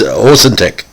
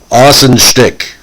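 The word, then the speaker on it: Ahuntsic: squad from uh orson's osintec uh i can never pronounce austin schtick anyway a-h-u-n-t-s-i-c austin thank you now uh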